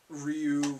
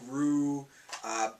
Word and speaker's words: Ryu: Like, we would call Guile, Gilly, we'd call Ryu, Rue, Delzim, I don't even